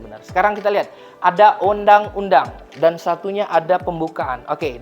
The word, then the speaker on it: Undang-Undang: Bukan bacanya bukan Owendang, tapi Undang-Undang Dasar. Itu kosakata pada zaman dahulu. Kalau dahulu itu OE itu U bacaannya.